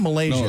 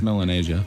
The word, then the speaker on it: Melanesia: that sound right Malaysia it's not Malaysia it's melanesia melanesia yeah that's why I